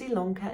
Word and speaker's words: Ilonka: to stitchy lanka yes my name is ilonka it's spelled with an eye but pronounced with an